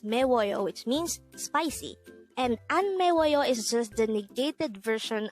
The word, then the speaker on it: 안매워요: hango where number 253 ano this is pronounced as a four syllable word the first syllable is